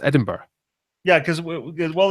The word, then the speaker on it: Edinburgh: that's spelled the wrong it's spelled the wrong way of how it sounds and you know what